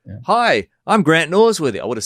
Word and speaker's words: Norsworthy: So I should have said, "Hi, I'm Grant Norsworthy." I would have said Grant Norsworthy for New Zealanders, But with the emphasis on the R, right? Nors, right? Yeah.